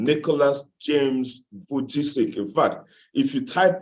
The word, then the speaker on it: Vujicic: I have a hard time pronouncing his name. Pastor Vesichu, somebody help me out, please. Pastor Nicholas Vujicic, yeah.